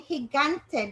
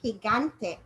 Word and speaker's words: gigante: be gente and gigante now in gigante do you hear g making any other sound he got the regular the regular g zone so it's making its two zones in that word gigante all right and i'm